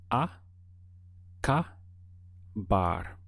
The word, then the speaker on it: acabar: way let's get started the sound of the verb acaba has three syllables so we have aa car bar now one way we